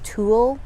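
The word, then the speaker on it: tulle: or so or anything it's very similar to the tool fabric i think i pronounced that correct t-u-l-l-e um so it's it's pretty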